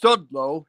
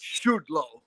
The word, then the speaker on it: Sudlow: there and go and his name is pronounced Sudlow not Studio no no I won't